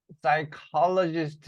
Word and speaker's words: psychologist: 자, Elizabeth Apple, loved as a psychologist 이렇게 나오죠. 그래서 이거 묵음이에요, 발음이.